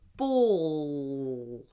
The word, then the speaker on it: ball: it's before a consonant, we do a weird kind of L, a dark L, where we basically push the whole tongue up as high as it will go and we go ball. And I'm trying to push, especially the back of my tongue up. It's like I'm trying to press the whole tongue upwards. Ball. Push that tongue up.